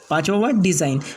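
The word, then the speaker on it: design: Alignment, फिर उसके बाद में पाँचवा वर्ड है डिज़ाइन, इसके बाद का नवा रूल्स है कि कुछ शब्दों में एच को नहीं पढ़ा जाता है।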